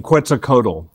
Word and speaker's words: Quetzalcoatl: gets caught the and i'm saying quetzalcoatl but that's how i pronounce but i'm not pronouncing it correct you're saying it correctly yeah do you know